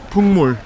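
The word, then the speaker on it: 풍물: Pungmul. Pungmulnori. Pungmulnori. How do you spell that?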